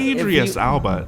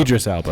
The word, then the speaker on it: Idris Elba: wasn't, Idris Alba. Now that if that's who you're thinking of. Idris Elba.